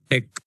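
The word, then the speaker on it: deque: Deck, double-ended queue. Okay, DQ will call, double-ended queue. Actually that is pronunciation deck, double-ended queue, full form.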